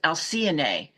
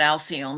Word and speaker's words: Alcyone: of the Pleiades, and the Greek pronunciation is Alcyone, or Alcyone, I believe that's it, Alcyone. But we're going to be calling it Alcyone because that is the English version.